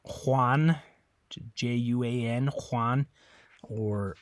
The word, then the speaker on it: Juan: in Spanish the J the letter J always makes a an English H sound okay it's always a